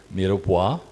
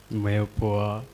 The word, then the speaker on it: mirepoix: Julian, Brunoise, You have to pronounce well. Brunois, Bruno, Brunois, Bruno, Macedon, no. Mirepoix, Mirepoix, Meopoa, Mirepoix.